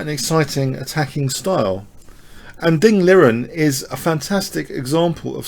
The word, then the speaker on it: Ding Liren: And Ding Liren is a fantastic example of such a player.